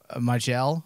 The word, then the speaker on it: Majel: Majel? Is that how you say her name? Yeah, Majel Robert.